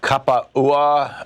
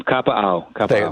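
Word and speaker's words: Kapaʻau: Jim, is it Kapa'ua, Hawaii? I'm sure I'm mispronouncing that. Close, Tom. Kapa'au. There you go.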